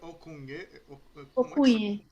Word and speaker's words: Ocougne: se pronuncia Okunye.